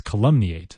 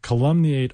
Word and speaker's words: calumniate: the idea of it almost calumny eight almost sounds like column nee eight like a column you might read in the newspaper column me eight and